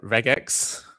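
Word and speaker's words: regex: Um how do you pronounce that? Regax. Because it's short for regular expression, right? So, I assume it's regax.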